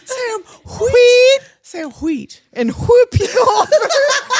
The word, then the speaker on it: Wheat: You know we were both going to pronounce that H. Sam Wheat, Sam Wheat, And Whoopi Goldberg as Oda Mae Brown, a.k.a.